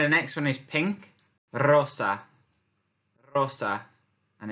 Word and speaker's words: rosa: we bien here the next one is pink Rosa Rosa and it's rolling the air again which